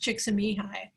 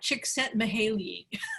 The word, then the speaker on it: Csikszentmihalyi: his first name, but his last name is pronounced Csikszentmihalyi. It looks like Csikszentmihalyi, but anyway, it's Csikszentmihalyi.